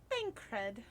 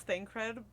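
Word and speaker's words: Thancred: that there is bankrupt bankread he is our man i also mispronounced thank you sorry i know it's thing cred but that's not how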